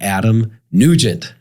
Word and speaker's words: Adam Nugent: I am super excited to have Adam Nugent.